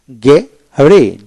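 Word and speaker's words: gharry: তারপরে গে রে, জি এ আর ওয়াই, গেরি, এখানে এইচ উচ্চারণ হবে না, ডাবল আর এতে একটা আর বাদ যাবে।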